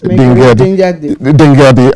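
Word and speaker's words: Dingyadi: Yes, Dingadi. I was going to ask you to make sure I don't mispronounce that name.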